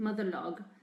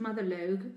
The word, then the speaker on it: motherlogue: I chose to pronounce it motherlogue. You could pronounce it motherlogue, I suppose, because it's not a word that I'd ever heard before.